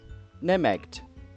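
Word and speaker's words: Nemegt: You know, actually, let's see if there's a pronunciation online real quick. Nemeck. Okay, so I was right. Nemeg.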